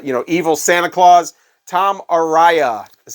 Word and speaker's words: Tom Araya: of crazed uh you know evil Santa Claus Tom Aria is how you say his name [ __